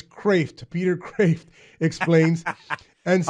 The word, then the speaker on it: Kreeft: The actual pronunciation is not Kreeft, it's Kreeft.